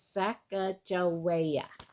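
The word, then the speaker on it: Sacajawea: has a fancy name her name is Saka jaia you say it like this saaka joa very good Lucy later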